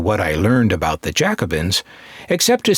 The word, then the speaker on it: Jacobin: Now, I'm not going to go into what I learned about the Jacobins, except to say that I learned the right way to pronounce it, Jacobin, not Jacobin.